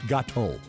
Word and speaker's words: gâteau: Mike, what kind of fruit do you usually find in a Black Forest gâteau? And I'll spell that because that's French for cake.